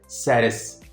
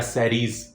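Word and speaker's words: Ceres: dwarf planet कहलाता है सरेस या सरीज जो भी प्रोनाउंस आप उसको करना चाहे ये प्रोनंसिएशन जो है ये काफी आगे पीछे हैं बट डजन मैटर आप जैसे मर्जी इसको प्रोनाउंस करें सरेस या सरीज ये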